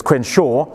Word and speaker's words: Crenshaw: and Kimberly Crenshaw who is also hey also mispronounced the name there so it's Quinn Shaw um they who also was responding who's also